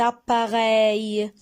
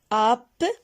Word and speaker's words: appareil: Et là, vous prenez des photos avec cet appareil. Appareil. On a 3 syllabes. Appareil. Rey. On a le son ei dans la troisième syllabe.